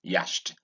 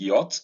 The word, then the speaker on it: yacht: And this word Nigerians say yashed. Note the CH is silent.